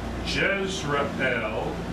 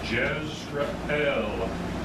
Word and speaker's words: Jezreel: The Lord said to him, call his name Jezreel. That's, I believe, how you would pronounce it. Okay, not Jezreel. Jezreel, the El meaning God.